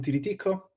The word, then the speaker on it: Tiriticco: this very difficult times my name is Tilly Tico my twitter handle is Tico it's a lot easier to pronounce than my family name I come from